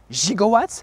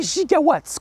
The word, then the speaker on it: gigawatts: parce que tout simplement ce n'est pas gigwatts mais gigawatts qu'on dit et tout ça vient